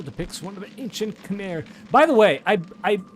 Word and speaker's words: Khmer: Like, I mean, Khmer, I believe, is an acceptable, like, English pronunciation, but I think it's,